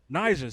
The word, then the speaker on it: Naija: Naija.